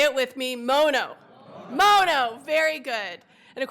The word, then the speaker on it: Mono: work in this building aren't sure how you pronounce our county's name. So it is, say it with me, Mono.